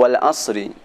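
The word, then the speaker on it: والعصر: Contoh kedua pada surat Al-Asr atau Wal Asri. Cara membaca wal asr, suara sad diberikan suara dengan samar-samar, dan suara ra tetap dibaca dengan sempurna.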